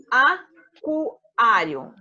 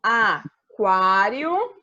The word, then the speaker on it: aquário: Aquário. Pronuncia o U, ó. Quá, quá.